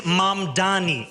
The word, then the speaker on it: Mamdani: Cuomo, and furthermore, the name is Mamdani, M-A-M-D-A-N-I. You should learn how to say it because we got to get it right.